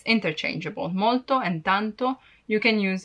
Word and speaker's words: molto: to use tanto because if you cannot pronounce molto in a perfect way you may be misunderstood and if you say morto it means dead so yeah molto or